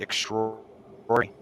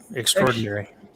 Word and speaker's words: extraordinary: though people pronounce it extraordinary yeah they leave the a out extraordinary but yeah you're extraordinary